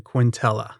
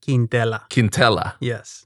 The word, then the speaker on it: Quintela: name quintella quintella but i always uh use a very simple pronunciation quintella quintella but the official pronunciation is quindella okay and are you